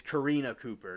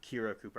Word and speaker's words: Karina Cooper: A deputy noted Ryan's body was in the recliner and his wife Kiri Karina, I said it wrong. It's Karina Cooper, not Kira Cooper.